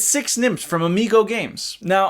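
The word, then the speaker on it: Sechs nimmt: It's Six Nymph from Amigo Games. Now, I know it's actually pronounced like Sechs Nymph or something like that, but I'm just gonna say Six Nymph because I'm not German.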